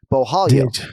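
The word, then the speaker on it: Borralho: in your back pocket if you see two r's together at a Brazilian name that's pronounced with Brazilian Portuguese the two hours become an H Beau Hollywood right I tell you I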